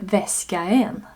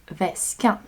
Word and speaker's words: väskan: 2 vokaler skulle göra uttalet svårare, så vi behåller bara en av dem, a. Så det blir inte väskaen, utan väskan.